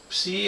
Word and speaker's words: psi: Psi es el flujo, psi es la forma en que se pronuncia, es una letra griega, es el flujo total del inductor o de vanado.